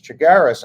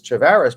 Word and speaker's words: Chagaris: Uh so I think there's an opportunity here if judge if if judge Chagaris I mispronounced his name as Chavvaris, but if Judge Chagaris